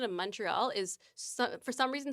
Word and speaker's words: Montreal: Montreal. Montreal. Not Montreal. Not Montreal. The stress is on the last syllable.